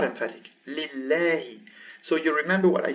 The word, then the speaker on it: لله: So here we have Allahu, Allahu, emphatic Allahu. But here, because there is a kasra before, it goes lillahi, lillahi.